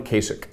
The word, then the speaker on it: Kasich: well he says uh what Kasich rhymes with basic and and I think